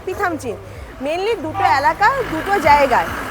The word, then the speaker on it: Pithamchin: তো সকাল থেকে কিন্তু উচ্চারণ ভুল করে যাচ্ছি। পাদমাচিন পাদামচিন এসব বলে যাচ্ছি। কিন্তু উচ্চারণ ওটা না পিথামচিন।